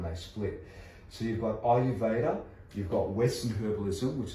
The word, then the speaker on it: Ayurveda: There's Western herbalism, there's Ayurveda, spelt with an A, pronounced like it's an I. So Ayurveda.